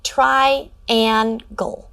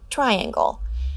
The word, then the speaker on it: triangle: correct their mispronunciation to triangle. However, if students read this and don't correct it to triangle, it's okay to let them know that in this word, the letter N represents the ng sound, and ask them to try reading it again.